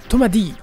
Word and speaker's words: Captain Tomadi: Ensuite on a Captain Tomadi. Oui, ça se prononce Tomadi en japonais et pas Tomade.